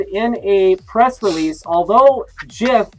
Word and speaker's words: GIF: a press release although jiff is obviously pronounced with a soft g people mispronounce the word